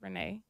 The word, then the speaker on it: Rene: My middle name is Renee. Okay. And the way it's pronounced, the way it's spelled, people would pronounce it wrong because it's R-E-N-E, so they would say it wrong.